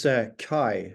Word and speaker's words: CHI: It's CHI, which is spelled C-H-I, so it might be a hard search based on the pronunciation.